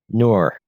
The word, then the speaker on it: Nur: and in the process, actually speaks its name out, which is Ner. That's spelled N for November, U for umbrella, and R for Romeo. Nur, which is basically the